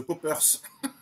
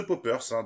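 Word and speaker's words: Paupers: à 69, c'est The Poppers. Ça ne s'écrit pas comme le Poppers, c'est P-A-U-P-E-R-S, et c'est un groupe canadien de psychédélique qu'on pourrait rapprocher plus ou moins.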